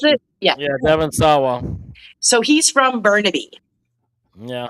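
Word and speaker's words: Devon Sawa: Is that how you pronounce it? Yeah. Yeah, Devin Sawa.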